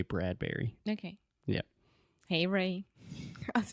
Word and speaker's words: Bradbury: wrote a lot of are you sure it's Bradbury and not bread Brewery like Burberry it's not like Burberry perhaps if you were speaking in British English or something you pronounce it differently but I've always said Ray Bradbury okay yeah hey Ray